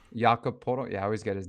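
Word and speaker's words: Jakob Poeltl: Jacoby Podol? Jakob Podol. Yeah, I always get his name wrong.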